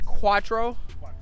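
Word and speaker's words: quattro: a that's crazy man the way you pronounce that is is cuatro cuatro so that system is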